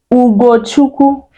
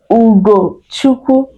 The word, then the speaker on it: Ugochukwu: Ugo is spelled UGO. Then Chukwu, CHUKWU. That is the spelling on the screen.